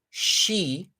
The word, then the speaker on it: Xi: They have characters, but they use the letters of the English alphabet to produce Chinese sounds. So XI is she, but depending on where in China you're from, you're either going to say she or C.